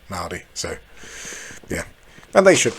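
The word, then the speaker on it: Māori: European people and and white new zealanders say Mai but they the Mari say Mari so yeah and they should and the Mary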